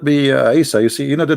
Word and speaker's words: Isa: You see, in English today, you are reading Isa, right? Like I, Isa. But this is not how it is in Arabic. It is Isa.